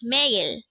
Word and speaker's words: 매일: The first syllable is me. The second syllable is ill.